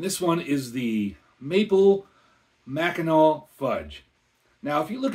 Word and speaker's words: Mackinac: familiar with the area it's spelled m a c k i n a c a lot of people want to pronounce it macac but I'm pretty sure it's maol and if I mispronounced